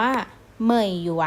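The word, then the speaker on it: 美元: เป็น หยวน คำ นี้ อ่าน ออก เสียง ว่า เหมยหยวน นะ คะ ลูก ไม่ อยู่ เนี่ย ก็ จะ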